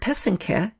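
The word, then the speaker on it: pysanky: Y s am KY the accent is on the second syllable an easy way to remember how to say it is that the first and third syllable rhyme so that's the path and the cat put it all together and you get peasant calf many other Eastern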